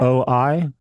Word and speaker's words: Oi: a sporting event, like it's spelled Yeah. O-I. How do you say that? Oi, oi, oi.